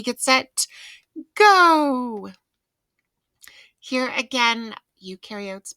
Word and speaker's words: eukaryotes: set go here again eukaryotes much more complex you rhymes with do and new because they do have a nucleus pro rhymes with no there's no nucleus and prokaryotes all right so microscopes